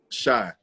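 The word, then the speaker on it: Shai: Shay or Shy? Shy. Shy is an R&B group.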